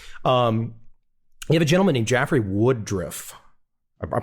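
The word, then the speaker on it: Jeffrey Woodriff: You have a gentleman named Jaffrey Woodruff. I'm pronouncing that right, I think.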